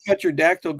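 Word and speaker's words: pterodactyl: hear a petrodactyl going to the bathroom because the P is silent.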